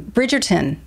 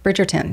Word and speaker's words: Bridgerton: i never can remember how to pronounce this um bridgeton bridgerton yes um so this has been